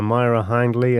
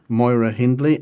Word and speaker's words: Myra Hindley: Yeah, Myra Hindley and Ian Brady. Yes, Moira Hindley and Ian Brady. Myra Hindley, according to the Sex Pistols song.